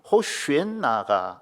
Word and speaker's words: 호산나: 호산나 다윗의 자손이여 찬송하리로다. 주의 이름으로 오시는 이여 가장 높은 곳에서 호산나. 여기서 이 호산나라고 하는 말은 호슈엔나가 올바른 발음입니다.